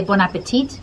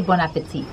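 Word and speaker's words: bon appétit: says people often say bon appetit but it's actually bon appetit right you don't pronounce the t at the end that's true just a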